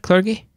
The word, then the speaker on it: clergy: Clergy? Clergy. Clergy. That's the one. Soft G, darling. Clergy rhymes with largy.